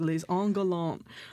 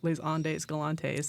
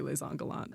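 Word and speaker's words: Les Indes galantes: And you're like, that is a French word, that is les Angolants.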